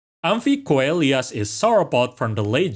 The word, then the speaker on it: Amphicoelias: Okay, that might sound really weird for you because it's usually pronounced Amphicoelias in English. But yes, as I said earlier, I'm pronouncing it with classic Latin pronunciation. Amphicoelias is sauropod from the late Jurassic.